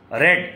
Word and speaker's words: read: आपने रेड सुना, रेड, चूंकि ये है रीड, रेड, रेड, स्पेलिंग वही है, प्रोनाउंसिएशन चेंज हो जाता है।